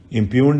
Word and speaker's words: impugned: इम्प्यून्ड में जी जो है साइलेंट होता है. इम्प्यून्ड ही बोला जाएगा आपको.